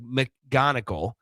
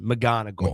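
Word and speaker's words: McGonigle: And I so often want to pronounce the C and the G. So it'd be like McGonigal, but it's just McGonigal.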